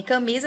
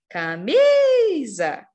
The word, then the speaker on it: camisa: camisa e peteca boa em camisa a gente tem um acento o acento tônico na sílaba Mi né camisa e nem tem acento gráfico né Tem um acento